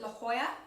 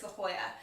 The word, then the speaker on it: La Jolla: went to the area is it La Jolla is that how you pronounce it it smell like La Jolla but I'm pretty sure it's the Hoya and you've got like